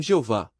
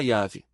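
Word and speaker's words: Yahweh: Os maçoretas, escribas judeus dos séculos VI ao X, adicionaram as vogais de Adonaias consoantes do tetragrama, criando uma pronúncia artificial incorreta. Mais tarde, tradutores latinos transformaram essa versão distorcida em Jeová. No entanto, linguistas e especialistas em Bíblia concordam. A pronúncia original era Yav.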